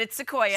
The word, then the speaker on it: Sequoia: But it's Sequoia.